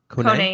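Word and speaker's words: Koné: But when we faced you guys last time, Kone, am I pronouncing it right? Ismail Kone? Kone, yeah.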